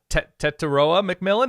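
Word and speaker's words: Tetairoa McMillan: the 2024 season is T-Mac from Arizona uh T taroa McMillan is how you pronounce his name correct yes correct correct Teta McMillan and I confirmed this with you yesterday because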